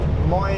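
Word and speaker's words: Moyie: Moy is spelled M O Y I E. I think it's pronounced Moy.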